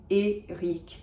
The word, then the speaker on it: Éric: Final C is pronounced, final R is pronounced. Éric, Chacour, Chacour.